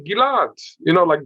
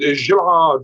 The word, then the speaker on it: Ghil'ad: But people say Ghil'ad, like Julia Gillard. Julia Gillard was the prime minister, a female prime minister of Australia. So Ghil'ad, but it's not Ghil'ad. So when I speak to Arabs, they pronounce it Gilad, Gilad. It's the original pronunciation, Right.